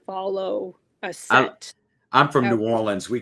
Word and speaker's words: New Orleans: How do you say New Orleans? New Orleans. New Orleans? Yeah, AWL. AWL? AWLINS. Yeah.